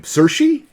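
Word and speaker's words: Saoirse: and I never remember how to pronounce her first name sersi it's because you look at it and you go to read it and you're reading it wrong no that's exactly that's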